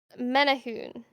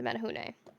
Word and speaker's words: Menehune: Let me look at the pronunciation thing. Menahoon, I think is what it is.